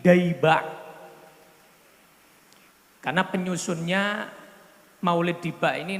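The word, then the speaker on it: Dayba': adalah Maulid Diba Maulid Diba ini sebetulnya ejaan yang benar itu bukan Diba tapi daba karena penyusunnya Maulid Diba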